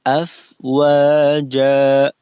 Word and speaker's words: أفواجا: আর আফ ওয়াজা, ফায়ের উচ্চারণটা আফো, ফো যেন না হয়, আফ ওয়া। ফায়ের কার্যক্রম পরিপূর্ণ শেষ করার পর ওয়াবের উচ্চারণে আসবো। যেন ফায়ের উচ্চারণ চলমান থাকা অবস্থায় ওয়াবের প্রস্তুতি স্বরূপ ঠোঁট গোল করে না নেই, এটা সমস্যাকর।